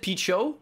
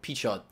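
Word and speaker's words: Pichot: most controversial person here alan how do you pronounce his last name again so i always said pete show but uh i've started saying the t so p chad heat shot heat shot okay there we go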